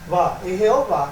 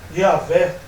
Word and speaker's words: Jeová: Ainda que mostra mais claro ainda que a pronúncia é essa mesmo, né? E não Yahvé, né?